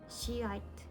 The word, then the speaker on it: Shiite: she this is um I've never knew how to say this in English and I just searched and I was surprised how the pronunciation was different so it goes like this Shiite organization next one is